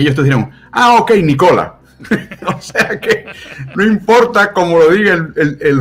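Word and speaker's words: Nikola: de su nombre y le llamen nicola y no ni cola porque el chico la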